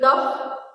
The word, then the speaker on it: cough: Now I'm reading LAUGH, laugh, ROUGH, rough, COUGH, cuff, TOUGH, tough, ENOUGH, enough. देखिए यहाँ ये silent है, जो GH है हमारा, यहाँ हमें